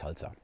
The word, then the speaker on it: SLSA: So the first project I'm mentioning here is Slsa, and it's I can't remember the acronym, so but it's pronounced Slsa.